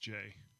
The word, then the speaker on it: Jai: Hi, Jai is telling me that his name is pronounced Jay. So it's Jay.